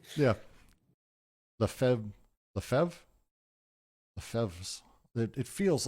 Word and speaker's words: Lefebvre: To pursue a remark of Henry Lefebvre, sorry, I'm getting weird notifications.